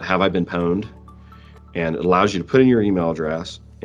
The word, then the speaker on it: pwned: No, it's a play on the word owned, like the password's been owned, so it's pwned.